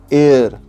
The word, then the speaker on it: heir: इसका spelling HEIR है, लेकिन इसका प्रोनाउंसिएशन कुछ अलग होता है। इसका प्रोनाउंसिएशन ऐसा होता है, ध्यान से सुनिएगा। एन एयर, एयर मतलब एयर हम जैसे स्पेलिंग करते हैं, प्रोनाउंस करते हैं एयर, हवा, AIR, इस HEIR का प्रोनाउंसिएशन भी उसी तरीके होता है, मतलब एयर।